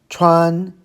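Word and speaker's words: 穿: Another first tone, Chuan, means to wear or to put on clothes.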